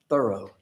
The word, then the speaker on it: Thoreau: That's the way he said his own name, Thoreau.